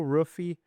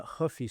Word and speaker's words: Rua: Anyways, next up, we have Mauricio Rua uh Rua, sorry, versus Michael Chandler. Maybe it's Mauricio Rua now that he's training up in Australia. Maybe he's going to start pronouncing the R's instead of as H's now that it's Australian Mauricio.